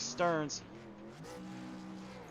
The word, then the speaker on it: Stearns: and i just realized i was saying stems the whole time it's actually stearns stearns i really do apologize